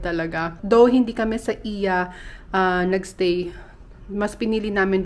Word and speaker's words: Oia: crowded sa sa iya oya ako ng oya kasi nga yung spelling niya oya pero i yung pagbigkas sa kanya Iya is yung famous na